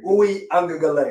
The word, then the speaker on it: Uiagalelei: Uiagalelei.